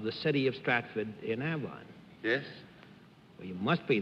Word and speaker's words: Avon: How do you pronounce it? Avon.